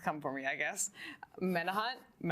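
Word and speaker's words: Menauhant: Menahut. I always say it incorrectly. That's how I've been informed it's pronounced.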